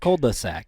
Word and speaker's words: cul-de-sac: Cul-de-sac, yeah. Cold-de. Yeah. I'm seeing it phonetically broke down.